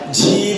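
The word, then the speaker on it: جيم: পড়তে হয় মাশাল্লাহ জিম জিম জিম জিম এই যে তুমি বললা জেম আমি কি জ্যাম বলছি নিচে আনছি শ্বাস আসবে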